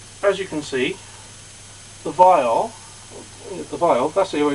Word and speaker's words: viol: Now, as you can see, the viol, that's the way it's pronounced, viols, it has deep sides which slightly curve inwards there, and again there.